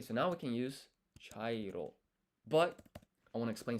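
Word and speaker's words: ちゃいろ: Because if you look here, chairo, this here is not chi ya, it's cha.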